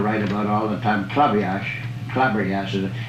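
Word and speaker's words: Klabberjass: And the game that Damon Runyon used to write about all the time, Clabriage, it's K-L-A-B-B-R-J-A-S-S. It's a funny, it's pronounced club. They call it club.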